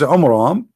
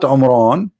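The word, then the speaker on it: Amram: So Muhammad, he could not even copy the name correctly from the Bible about the father of Moses, which is Umram, not Umran.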